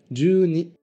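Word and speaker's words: 十二: Voilà, on colle simplement les deux kanji de 10 et de 1 et on les prononce à la suite. Du coup, c'est vraiment simple. 12 se dit juni.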